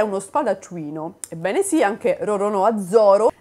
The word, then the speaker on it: Roronoa: ci consoliamo perché a quanto I Giapponesi lo pronunciano con Roronoa adesso non potete più dire che io pronuncio